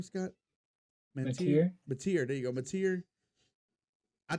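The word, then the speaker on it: Mateer: Mantier.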